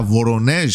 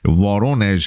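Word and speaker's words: Воронеж: انباری که امروز بهش در ورونژ حمله کردن وارونژ هست فکر کنم تلفظش انباری هست که روی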